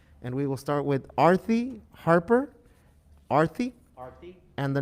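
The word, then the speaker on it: Aarthi: Yeah, it's Artie, but she pronounces it Arthy.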